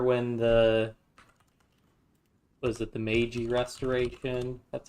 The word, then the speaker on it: Meiji: Shogunate's still in power, which not sure when the was it the Meiji Restoration? That's how you pronounce it.